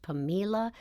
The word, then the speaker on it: Pamela: to live with his sister it looks like Pamela but it's actually pronounced pamila mait and her husband got Twain his pilot's